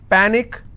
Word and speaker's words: panic: so let's break this Panic is PA Nick which means I will stress on PA and it's pronounced at panic tragic tragic I will